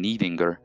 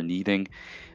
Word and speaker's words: Níðingr: You have Old English Níð or Níð, that D sound that kind of has a bit of a, you know, hard TH sound at the end of it. So it's like Níð. You'll see it spelled N-I-T-H-I-N-G. You'll spell it with the N-I and then the Icelandic sound for the. It's kind of the same pronunciation as in beneath, or, you know, the, that sort of pronunciation.